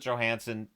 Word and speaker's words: Johansson: you've got y Johansson Johansson right he pronounces it Johansson just swets like to mess with us but lilin